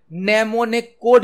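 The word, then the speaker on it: mnemonic: है assembly language मां name ने कोड उसे किया जाते हैं नमो ने कोड असेंबली लैंग्वेज मां नाम कोड उसे किया जाते हैं एम साइलेंट होता है किसी शब्द का शॉर्टकट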